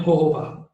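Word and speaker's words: jojoba: जोजोबा को वैसे pronounce करते हैं होहोबा.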